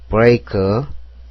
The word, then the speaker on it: break: break, B는 비읍, R은 리을, E는 에, A는 이, K는 키역. 그래서 break가 됩니다. 여기서 A는 이 소리죠.